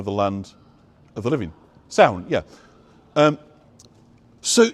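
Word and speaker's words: Samhain: ha s m h a i n it's pronounced sound people heard of that put the Druid thing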